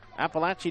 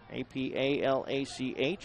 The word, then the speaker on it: Apalach: Bring home that win from Appalachia Dixie Board. Actually, it's Appalach Dixie Board. Apalach.